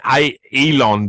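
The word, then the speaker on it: Eylon: It's Elon, but it's spelled E-Y, I think.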